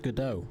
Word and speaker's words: Godot: So I made the mistake of it's pronounced Godot.